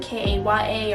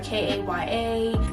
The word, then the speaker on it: Kaya: It's Kaya. It's not Kia, it's not Kai, it's not none of that other stuff.